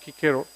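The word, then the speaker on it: Cicero: quote to you from marcus kikero pronounced kikero man who lived between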